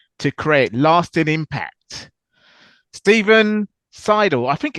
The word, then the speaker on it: Seidel: It's Seidel, kind of like, I'm sighing, but you know what?